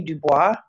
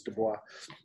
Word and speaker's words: Du Bois: uses that name is Du Bois. It's pronounced Du Bois? Yes. Yeah. It is. I wanted to phone you so we could. Okay. Wait, it rhymes with Joyce.